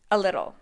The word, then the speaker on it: a little: look at a little a little is also linked to sound like a single word a little the stress is on the second syllable the T's and little